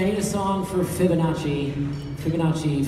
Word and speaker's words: Fibonacci: Fibonacci, four syllables.